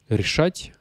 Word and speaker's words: решать: Решать. Et je crois que l'accent tonique, c'est решить, qui signifie décider. Donc решать, l'accent tonique, normalement, il est sur le A.